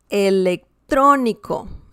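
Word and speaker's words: electrónico: sorry about that okay so electronico electro nico and we have the stressed syllable here therefore this one is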